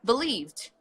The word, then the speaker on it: believed: believe believe believe fast believed mmm-hmm which sound it's the teeth put your head Gillian that's okay believed yes very it's about idea it's a very subtle D it is that's why